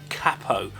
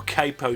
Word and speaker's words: capo: the years and that's the humble capo or capo depending on how you want to pronounce it i once heard